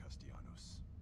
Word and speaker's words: Castellanos: them and stem dark think about this mister Castellanos that's how you say my name customs to